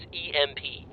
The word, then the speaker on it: EMP: Imp? That's not how you say it. That's how most people say it. Imp. No, they don't. I say it that way. It's initials for electromagnetic pulse. That's EMP. Right, which spells imp.